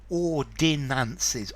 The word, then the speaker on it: ordinance: and these are ordinance ordinances ordinances three syllables now ordinance two syllables no I in the middle talks about military equipment